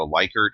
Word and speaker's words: Likert: what's often called a Likert or Likert scale. Likert is actually how the name is pronounced, but a lot of people call it Likert.